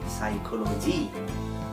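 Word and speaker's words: psychology: কোনো word start হয় সেখানে ফিটাকে সাইলেন্ট রেখে উচ্চারণ করা হয়। তাই সাইকোলজিতে ফিটাকে সাইলেন্ট রেখে উচ্চারণ করা হয় সাইকোলজি।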